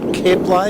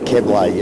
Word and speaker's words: Kebley: Pronunciation, so I'm told, because I've got a bull with me, and the bull's name is pronounced Kebley. Is that correct, my friend? Correct, Walshy. Yeah, Kebley. It's Mauritian.